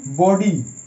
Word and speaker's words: body: বডি, DE এরকম উচ্চারণ হচ্ছে।